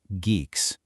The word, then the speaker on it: GCCS: Well, it pretty much all comes down to this system, GCCS, which is pronounced Geeks.